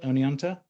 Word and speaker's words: Oneonta: Is that how I spell it? Oneonta?